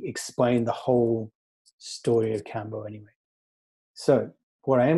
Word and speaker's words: Kambô: If you were to spell it without that, it would be pronounced Kambu, like bamboo, but it's supposed to be spelled Kambo, as in rhyming with elbow, and hence it's got that little triangular accent.